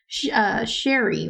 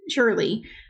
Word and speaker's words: Shirley: When they said she lived in a funeral home, I thought it was Sherry, right? Shirley. That was Shirley. But then we saw Shirley.